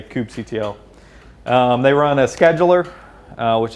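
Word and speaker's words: kubectl: the cube CTL command some people pronounce it coop cuddle which I find of noxious no offense a few guys pronounce it that way so I just say coop CTL they run a scheduler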